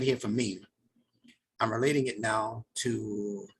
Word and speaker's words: Meem: This letter Meem has the M sound built into it at the front of it. And where else? At the end. At the end of it.